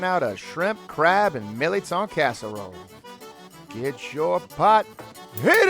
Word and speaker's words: mirliton: If you've never heard or seen a milit before, it's spelled a little different from how we actually say it here, but it's basically a pear-shaped squash, and it's very popular in Cajun and Creole culture.